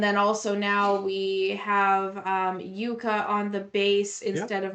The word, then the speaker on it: Jukka: I mean Kai, I think I said Jukka, but...